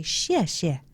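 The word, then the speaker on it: 谢谢: You hold the peace, put it at your heart chakra, and say xie xie.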